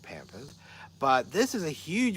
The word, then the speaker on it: pampas: a couple more things this is pampas grass and our pompous I pronounce it Pampers but this is a